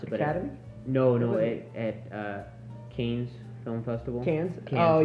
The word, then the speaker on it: Cannes: I mean, it won the I don't remember how to pronounce it, but Academy? Cannes Film Festival. Cannes? Cannes, oh, right, yeah, right. Yeah, Cannes.